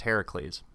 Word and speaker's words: Heracles: and by the way I'm not mispronouncing Hercules Hercules appears in multiple traditions and in the Greeks it's pronounced Heracles anyway we're not sure